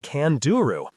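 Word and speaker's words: candiru: The worst thing about swimming in the Amazon is the tiny kanduru fish pronounced kanduru.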